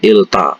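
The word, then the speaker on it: 읽다: ya Il Geda tulisannya Tapi bacanya bukan Il Geda tapi ilta ya membaca ilta Ini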